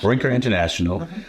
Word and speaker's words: Brinker International: in uh at Baker into interational did I pronounce that right Brer Brer interational Brinker International uh at one point serving as brand president